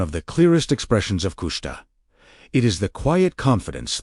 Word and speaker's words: Kushta: This is the profound invitation hidden inside Kushta, pronounced Kushta, meaning truth or that which is real.